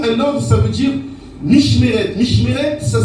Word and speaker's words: Mishmeret: Mais dans l'explication, un ordre, ça veut dire Mishmeret. Mishmeret, ça s'écrit M-I-S-H-M-E-R-E-T.